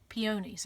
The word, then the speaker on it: peonies: be a regional thing this is pretty pineys no I'm sorry peonies okay we call it piney so that's what we